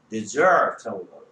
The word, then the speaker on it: desert: 근데 얘를 여기다가 강세가 있냐면 desert라고. desert 뭐라고 읽는다고? Desert라고 는다고 큰 어가 돼요.